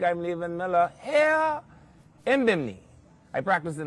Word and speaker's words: Bimini: I'm Levan Miller here in Bimini. I practiced in how to say it like how Biminites say it. Biminites somehow take that second I out that's unnecessary in their view.